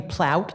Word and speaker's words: Plout: Hi, my name is Plout. It actually rhymes with sauerkraut.